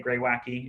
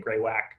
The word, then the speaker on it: greywacke: the park but also a stone called Mountain greywacke it looks like greywacke sometimes you hear people say greywacke if you google pronunciation all the videos say greywacke so you can live